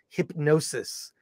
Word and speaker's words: Hipgnosis: and it is pronounced even though in in the the film it's hip g-n-o-s-i-s it's actually pronounced hypnosis it is the story